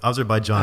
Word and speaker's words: Azerbaijan: the fact that you brought here from Azerbaijan Azerbaijan is the correct pronunciation right okay right after the Soviet Union